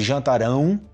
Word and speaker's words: jantarão: só para constar que a pronúncia desse jantarão no futuro é diferente de jantaram Ok jantaram jantaram futuro